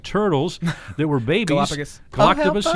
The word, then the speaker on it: Galapagos: the lady came by and she brought 2 galactopus. I think I'm saying it right. Turtles that were babies. Galapagos.